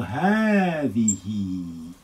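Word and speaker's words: هٰذِهِ: So haadhihi. When we write it, we will say haadhihi. Again, let's cross out that alif. Haadhihi.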